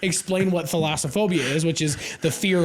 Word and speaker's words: thalassophobia: But yeah, when you said thalassophobia. No, you're still not even saying it right. It's Thalassophobia.